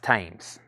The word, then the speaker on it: Thames: okay so that's where we're at on those uh uh pronounced tames yes thank you I was raised in UK